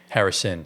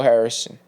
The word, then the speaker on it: Harrison: been like smashing Nico Harrison. Harrison. I'm We sorry. say his name right. I always say Nico Harris, Yeah. but you guys have been smashing Nico Harrison, right?